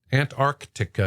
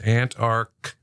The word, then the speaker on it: Antarctica: well let's go to the other one first Antarctica is the correct pronunciation there's two hard seas in there but